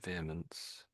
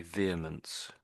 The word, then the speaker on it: vehemence: So vehemence, I think you said something like that. Only a little bit. But most Brits just say vehemence, vehemence.